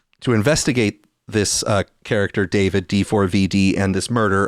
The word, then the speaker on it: D4VD: She went missing 2 years ago and a year after she was uh missing, she was found in D4VD, otherwise pronounced David, singer David, his Tesla vehicle, in several pieces.